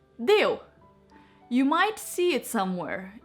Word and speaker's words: Deu: do it together my last name is just simply de you might see it